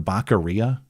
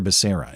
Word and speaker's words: Becerra: Javier Baccaria, I think, was the way Joe Biden pronounced his own HHS secretary's name.